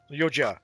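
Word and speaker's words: Yautja: Ya, pronounced Oh, they've got pronunciation for me. Yua yoja. Cool. Yeah, I I clearly am not doing it well. Um, oh yeah, they corrected the pronunciation.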